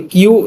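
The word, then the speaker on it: 九: ন এর আবার দুইটা উচ্চারণ কিউ বা কু। কিও বলা হয়। কুও বলা হয়। 10 কে বলা হয় জু।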